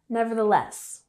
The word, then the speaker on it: nevertheless: Nevertheless, we have the emphasis on the last syllable, nevertheless.